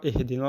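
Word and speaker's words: اهْدِنَا: Donc, pareil, ici, il faut faire très attention avec le ihdina. Donc, souvent, on lit très mal, on dit ihdina. C'est pas un E, mais c'est un I.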